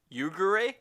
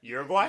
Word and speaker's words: Uruguay: and Uruguay. How do you say that? Uruguay.